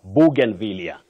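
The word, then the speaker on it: bougainvillea: say c FL and you sayen vilia for that flower ban vilia with a stress right at the onset Eli you say lose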